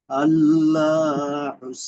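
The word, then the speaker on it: الله: আল্লাহু সামাদ ভাইজান আল্লাহ লাম কিন্তু মোটা হবে এখানে আল্লাহ হয়ে গেল আপনার উচ্চারণটা আল্লাহ আল্লাহ দেখবেন মসজিদের আজান গুলো এভাবে আল্লাহু একবার আল্লাহ উচ্চাগনটা মোটা করতে হবে আল্লাহু সামাদ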